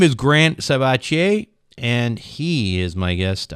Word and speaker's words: Sabatier: Today, my guest on Wealth Formula Podcast is Grant Sabatier. I like the French pronunciation.